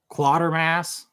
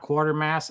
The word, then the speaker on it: Quatermass: Quatermass, not quartermass.